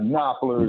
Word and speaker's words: Knopfler: Okay, would that be pronounced Knopfler by any chance? That's correct. Yes, that's correct. Okay. That's correct. Yes. All right, Knopfler is his name.